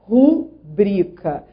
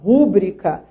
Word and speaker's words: rubrica: Atenção também, nessa frase 6, ao vocábulo cuja pronúncia correta é rubrica. Rubrica. Então, assim, a sílaba tônica é o bri. Trata-se de uma paroxítona. Rubrica. Se fosse proparoxítona, levaria acento, porque nós vimos que todas as proparoxítonas são acentuadas. Então, as pessoas que falam rúbrica, qual é a explicação